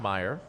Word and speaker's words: Meyer: letting us know that it's pronounced Meyer rhymes with hire and not mayor which I was originally